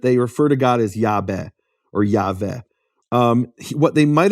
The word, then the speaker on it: Yahweh: But Yahweh actually would be pronounced in certain periods of history of Greek as Iaveh.